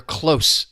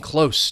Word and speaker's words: close: You're close to something or someone. You're not far. You're talking about the position either physically or in time. Close. It's getting close to uh my birthday or something which is not true.